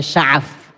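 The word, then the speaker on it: شغف: Jadi ketika cinta menusuk sampai jantungnya itu namanya syaghaf. Ada yang mengatakan bahwa ada yang membacanya dengan sya'af, bukan syaghaf, sya'af.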